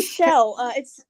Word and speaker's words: Chell: Yes, it's actually Shell. Excuse me. She's named after the character from Portal, but we found a Shell gas station, so it's spelled like. Oh, okay, I got Shell, you. But we say it like Shell.